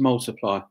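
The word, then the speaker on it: ×: by Ed Sheeran was X which is pronounced multiply so that was Ed's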